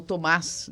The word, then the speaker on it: Tomás: Parabéns, o Thomas, ou Tomás, né? A pronúncia correta aí.